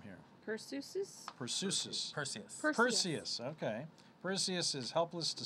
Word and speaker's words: Perseus: man how do you say this name here Perseus okay Perseus is helpless to save his family